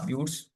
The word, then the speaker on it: buttes: तो देखो, एक स्पेलिंग गलत कर दी मैंने इसकी, BUTTES है, ठीक है। मिसास होता है और ब्यूट्स होता है।